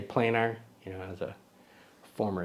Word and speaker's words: Planar: But since there's only one N, I'll say planar. You know, as a former English teacher, the double consonant would make it planar, but planar, I'll call it that.